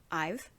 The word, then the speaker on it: IVE: for the girl group ive um i had to look up how to pronounce that name because i wasn't sure but i saw somewhere that it's a contraction for i have so i've if that's not correct